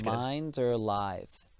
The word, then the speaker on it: Minderlithe: I did put the pronunciation on my Facebook, but it's Minderlithe.